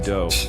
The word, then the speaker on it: Doe: This guy, Marshall Applewhite, but his friends called him Doe, which rhymes with Joe.